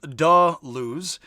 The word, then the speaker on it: Deleuze: Pronounced Deleuze.